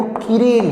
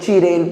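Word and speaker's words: chiral: कुछ बुक्स में कुछ लोग किरेल पुकारते हैं, कुछ लोग चिरेल पुकारते हैं, प्रोनाउंसिएशन की बात है यार, वो केमिस्ट्री भी बोल सकते हैं और स्पेलिंग के हिसाब से केमिस्ट्री भी बोल सकते हैं ना, तो कोई इतना दिक्कत नहीं है। तुम उसको किरेल पुकारो या चिरेल पुकारो, जैसा भी।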